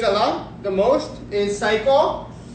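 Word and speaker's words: 最高: lot, the most, is psycho. The easiest way to know how to pronounce it correctly is just like psycho in English, you know? But psycho, which means the best.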